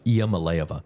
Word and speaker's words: Iamaleava: I'm looking at the pronunciation on the Tennessee website. Iamaleava.